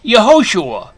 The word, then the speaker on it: Yehoshua: In any case, now you know that Jesus' real name is pronounced Yehoshua.